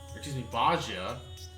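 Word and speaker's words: Bozja: In fact, we've recently received word from the resistance forces of Bajia, that's how you pronounce it, that a blasphemy was slain, thanks to no smart part to Lord Hien's timely assistance.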